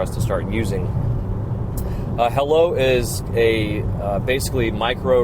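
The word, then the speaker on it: Heilo: guys to a new app coming out called hello it is spelled h e i l o uh I've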